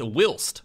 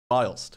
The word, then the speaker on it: whilst: videos the word whilst according to mutases It's pronounced wilst not whilst I was like M I don't